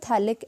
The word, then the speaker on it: थैलिक: हो, this is द थैलिक acid, this is द थैलिक acid. और थैलिक acid में pH silent होता है, उसको नहीं पढ़ते हम, TH से स्टार्ट करते हैं, थैलिक acid, this is द थैलिक acid.